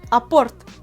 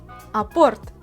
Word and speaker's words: apporte: Apporte. Apporte. Tu vois, je prononce ce mot à la russe.